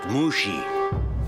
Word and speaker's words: Mushi: maybe you'd like the Avatar's help now it's pronounced Mushi you telling me how to do my job